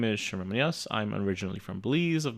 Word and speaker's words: Munoz: The last name is just like Munoz. Munoz. Yeah. By Shamir Munoz.